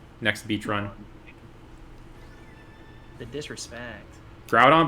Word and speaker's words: Groudon: beach run the disrespect groudon but i pronounced like crouton grudon i i pronounced it groot on for a little bit as a kid yeah i used to